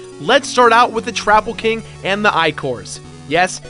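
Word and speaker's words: Troupple King: Let's start out with the Trapple King and the Icors. Yes, it's pronounced Trapple and Icor, even the game tells you this.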